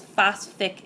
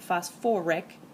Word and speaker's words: phosphoric: Now, a lot of students will tell me it's phosphatic acid, but that just sounds terrible. So, we add an extra syllable and we get phosphoric acid.